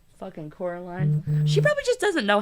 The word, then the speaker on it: Coraline: No, said Coraline. The old man shrugged. They're funny, the mice. They get things wrong. They got your name wrong, you know. They kept saying Coraline, not Caroline. Not Caroline at all.